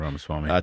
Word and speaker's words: Ramaswamy: Am I pronouncing that correctly? Yeah, Ramaswamy.